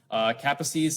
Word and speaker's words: Kaposi: Kaposi's sarcoma virus, did I say it right? Not Kaposi's sarcoma, Kaposi. Very important Hungarian pronunciation, is human herpes virus 8. It is associated with Kaposi sarcoma, which is a malignant neoplasm of blood vessels.